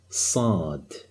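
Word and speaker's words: صاد: This letter is called Sad. Okay, it's a kind of deep S. Let's see how it's written. Here you go. This is the letter Sad. The sound is sa.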